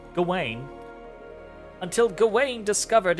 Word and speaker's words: Gawain: that's going I mean it's GA and Wayne so Gawain until Gawain discovered its